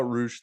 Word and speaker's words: Roosh: Roosh rhymes with swoosh. Just use an R.